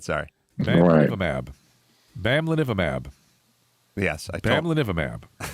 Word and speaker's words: bamlanivimab: Bamlanivimab.